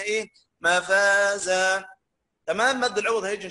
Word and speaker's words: مفازا: نقف بمد عوض تعوض بفتحه بالف، اقصد تعوض بالف، نسميها ايه؟ مفازا، تمام؟ مد العوض هيجي ان شاء الله موقف. ولكن نطقها ازاي؟ إن للمتقين مفازا حدائق وأعنابا.